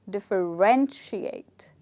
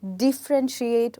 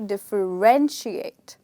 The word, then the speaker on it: differentiate: as you can see this word also is a five syllable word like refrigerator and here we don't stress on the second syllable we stress on the third syllable so the word actually becomes differentiate yes many of us call it as differentiate or differentiate but the word is actually differentiate okay so the stress is on ren okay so this is